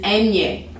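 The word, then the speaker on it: eñe: still its own letter it is enye and and how do i say this and yay that'd be the best way to pronounce it makes the sound like you would see you know in english like canyon like we say canyon it's the same thing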